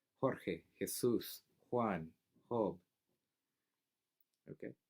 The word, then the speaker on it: Jorge: is where you know the letter J or what that sounds a lot like RH Jorge his sous one hope